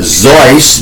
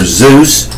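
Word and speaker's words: Seuss: today's day in 1957 dr. Zeiss but many of you pronounce it dr. Zeus utile you tied kale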